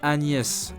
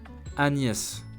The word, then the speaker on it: Agnès: Second word is Agnès, a popular woman's name. Listen, then pronounce Agnès, Agnès, Agnès.